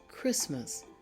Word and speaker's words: Christmas: are some more words repeat after me school Christmas again the AG is silent in those words don't forget your learning